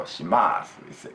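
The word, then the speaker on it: します: Last U is silent in Tokyo and Yokohama area in the standard language. So shimasu, that's it.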